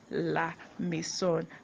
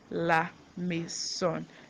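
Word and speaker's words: la maison: lison that's a house house in French is laon and it's spelled l a m a i s o n laon laon I hope you get it so let's go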